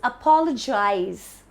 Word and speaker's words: apologize: Again, the stress is on pa. But the word is different because it's an action. You're doing an action or you're apologizing. So it's apologize. The stress is on pa again.